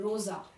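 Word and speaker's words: rosa: है, spelling same है but difference का इसकी प्रोनाउंसिएशन में, orange orange. Okay next pink, pink को हम जर्मन में कहते हैं रोजा, रोजा आर ओ एस ए।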